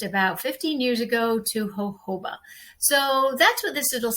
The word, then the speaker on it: jojoba: was educated, once I knew the benefits of Hoba, which far outweighed any other medium I felt, it was an easy easy change. So let's just go into what Hoba is. It's it's actually pronounced um hoba, but it's spelled j o j o.